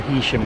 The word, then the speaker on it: Heysham: plus the conductor, everyone else is going to Hishim. That's the line to Lancaster, and we're now on the line to Hisham.